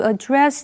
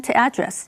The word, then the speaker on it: address: Alright，继续我们看的是 address 这个动词。address 在这里是当动词，意思是处理或对付。注意，当它当动词的时候，重音是放在第二个音前，念成 address。例如，the new policy was made to address the issue of air pollution。这个政策被制定是为了要解决空气污染的问题。address 也指对某个对象讲话或发表演说。